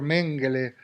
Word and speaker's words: Mengele: Bueno, eso es comprensible, pero en cualquier caso hay tantos torturadores, tantos, qué sé yo, tiene excusa el doctor Mengele, pronunciado así en alemán, o tiene excusa aquellos